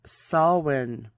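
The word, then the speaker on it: Samhain: ha a i n it's an Irish pronunciation pronounced swin was a period from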